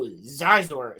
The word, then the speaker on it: Xizor: Who's talking about Scissor? No, Xizor. So it's spelled Xizor, and Zizor is a fucking crazy ass character from the Thrawn trilogy, dude.